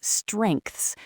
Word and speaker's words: strengths: Or we'll take a word like strengths, which is an absolute nightmare for learners. You've got an S, a T, and an R at the beginning, then a vowel,